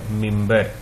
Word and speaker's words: ممبر: دیکھتے ہیں لفظ ہے ممبر، میم کے نیچے زیر، دوسری میم کے اوپر جزم ہے، ممبر۔ انگلش کا لفظ